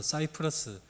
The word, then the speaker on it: 사이프러스: 구부로 어,이 키프로라는 곳인데 영어 발음으로는 사이프러스 생경에 나오는 구부로라고 나오는 지역입니다.